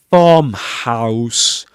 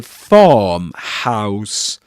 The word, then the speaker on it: farmhouse: mentioned does appear doesn't so it rhymes with that word so we say farmhouse car and uh by the